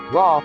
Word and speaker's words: Ra: Ra, pronounced Re, represents sunlight, warmth and growth.